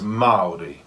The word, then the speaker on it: Māori: So I've heard people say the way you pronounce the word Māori is in like mouldy bread, like mouldy. Yeah, you might have heard that one. But it's actually, that would be right if there was no tohutoa in the A. But there is a tohutoa in the A, so it becomes Māori.